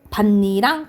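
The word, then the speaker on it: 밭이랑: 그렇지 비음화 현사 일어나 그래서 결과적으로 어떻게 발음나요 반니랑 이렇게 발음이나요 그래서 음마가 일어나 그래서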